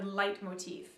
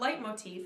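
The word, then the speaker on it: leitmotif: uses a technique that wagner developed called a light motif it's something we're going to talk about a little bit later in the semester but know that light motif it's spelled l-e-i-t-m-o-t-i-f light motif is when music is associated with a particular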